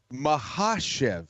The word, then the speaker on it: Makhachev: syllabic emphasis right so it's all about emphasizing the right syllable it was a very good effort out of you but what we go with on broadcast is not what you said can flow all over it as usual islam mahashiv it is the second syllable that is emphasized and